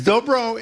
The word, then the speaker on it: dobro: Is dobro, did I pronounce that right? That's it.